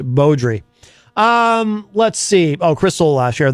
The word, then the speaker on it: Beaudry: He always says Alli Beaudry, but I believe it is pronounced Beaudry.